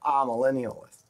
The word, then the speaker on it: amillennialist: spelled with an A a Millennials but they pronounce it aa millennialist means no millennium ah no millennium no thousand